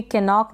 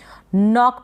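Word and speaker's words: knock: फिर ये है नॉक, इसको भी कैनॉक ना पढ़ें, नॉक पढ़ेंगे, एन से पहले के है, के साइलेंट है, एन को न पढ़ा, ओ को ओ और सी के को क प्रोनाउंस किया है, नॉक बन गया।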